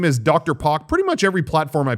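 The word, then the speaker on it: drpoque: regret that username later because it's hard to spell it should have just been like my name yeah but uh anyway i'm dr park on there d-r-p-o-q-u-e and i would say on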